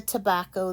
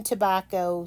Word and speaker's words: tobacco: So the word itself has 3 syllables. Tobacco. Oops. Remember, if you have double consonants, you will break between those. Tobacco. And it sounds like ta, back, co.